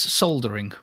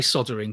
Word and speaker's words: soldering: to be soldering yeah there's an l in it so it's soldering soldering yeah wow it is spelled sold it's in the states it's spelled sold yeah i learned something about yeah i know i